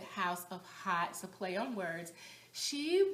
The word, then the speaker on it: Haute: coty's Channel and hot she spells it h o u t I guess that's for hot Couture but um she pronounces it House of hot so play on words